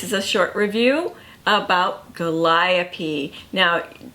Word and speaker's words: Gooliope: This is a short review about Gooliope. Now, a good trick to remember her name is it rhymes with Calliope, and Calliopes are in circuses, so it brings the whole big top feel to it.